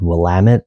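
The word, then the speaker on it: Willamette: It's uh looks like it's spelled Wamett, but it's actually called Wamit, and that's pronounced like Damitut.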